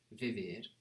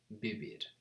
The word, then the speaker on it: vivir: So remember, V's in Spanish, they're pronounced a bit more like B's. So it's not vivir, but bibir, bibir.